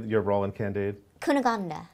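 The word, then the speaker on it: Cunégonde: how do you say your role in candid kuna gandha kuna gandha very good she actually beat Glenda I mean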